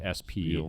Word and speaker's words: Spiel: mean there's their spiel which I may be pronouncing is its peel or spiels I don't think there's any I don't think there's an CH in there anywhere i think it's just s peel its spiel but yeah um it